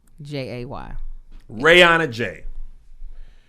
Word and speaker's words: Rayanajay: Her name is spelled RAYANAJAY. Rihanna J.